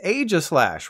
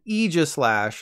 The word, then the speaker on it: Aegislash: said this Pokemon's name it's Aja slash right of course not this is the Pokemon company we're talking about the sword and shield Pokemon is officially called the Aegislash like the sound Mini Me makes I looked up the